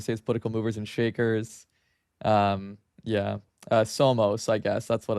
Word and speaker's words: somos: It's like Somos, right? Maybe I'm pronouncing it wrong, but it's like we are. Yeah. We are. Well, no, it's not Sumus. It's like SOMOS. Yeah, in Spanish, that's we are.